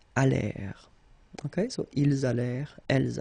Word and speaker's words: allèrent: And then this ENT at the end, you know, mark for the plural, well, clearly you don't pronounce it, so you get allèrent.